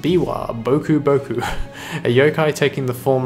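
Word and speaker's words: Biwa Bokuboku: This is the Biwa Boku Boku, pronounced Biwa Boku Boku, a yokai taking the form of a monk playing a biwa lute.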